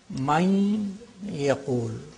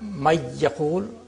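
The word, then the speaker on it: من يقول: You say, Main yaqul. The noon, nasality of the noon is there. Main yaqul. Minwal. Minwal. It's not may yaqul, minwal, no.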